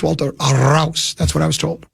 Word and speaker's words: Walter Rouse: And by the way, tell me if it pronounced wrong. It's Walter Rouse.